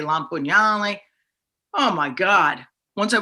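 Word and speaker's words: Lampugnale: is spelled differently because no one was going to say my last name as it spelled which was lam pugnelli so that's the italian way la pugnalle oh my god once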